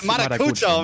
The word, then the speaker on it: Marucho: It was It was I mispronounced your name the first day a little bit, but now it's it's Marucho, man. Marucho.